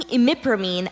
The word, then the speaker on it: imipramine: The pharmacist advised Laura that taking imipramine at bedtime may help reduce any side effects.